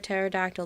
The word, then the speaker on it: pterodactyl: why can't you hear a pterodactyl the p is silent that's the second time